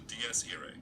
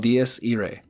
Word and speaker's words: Dies Irae: This melody is called the Dies Irae. This melody is called Dies Irae.